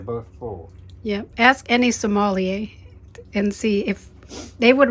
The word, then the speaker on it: sommelier: Similar to Somalia. Not somebody from Somalia.